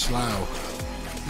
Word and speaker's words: Slough: It's pronounced Slough.